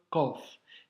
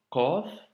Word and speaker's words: ق: numéro 18 donc aujourd'hui nous avons vu la lettre COF qui est une lettre emphatique qui doit remplir la bouche quand tu la prononces et qu'il ne faut surtout pas confondre avec le KF ici nous avons un COF et ici Kef KOF Kef KOF Kef pour l'astuce